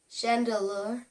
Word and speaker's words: Chandelure: Number 11, Chandelure, because, well, did I say it wrong?